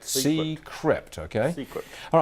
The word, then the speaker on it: Seecrypt: Have I pronounced it correctly? Correct. Seecrypt, okay?